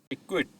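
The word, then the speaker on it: acquit: अब इस वर्ड में सी और क्यू एक साथ आ गया है तो हम सी की आवाज को प्रोनाउंस नहीं करेंगे। इक्विट।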